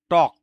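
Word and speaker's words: talk: টক, এটা এল এর উচ্চারণটা সাইলেন্ট থাকবে, এখানে হবে টক, টক মানে কথা বলা, টকড, টকড, টকিং, টক্স।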